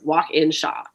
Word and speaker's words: Walkinshaw: But I'm like, phonetically, it is exactly how it looks. Like, it's walk, like the action, in like the preposition, Shaw, like Shawshank Redemption, walk in Shaw.